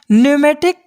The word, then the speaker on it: pneumatic: एक होता है हमारा न्यूमेटिक ड्रायर। इसको पी यहाँ पे साइलेंट है, PNEUMATIC, न्यूमेटिक ड्रायर, ठीक।